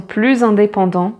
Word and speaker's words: plus: Les chats sont plus indépendants que les chiens. So cats are more independent than dogs. So here, plus indépendant. Again, the liaison, and here you pronounce the final S like a Z, plus indépendant.